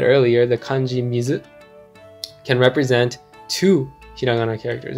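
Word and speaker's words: 水: And this kanji character has two pronunciations, mizu and sui, mizu and sui.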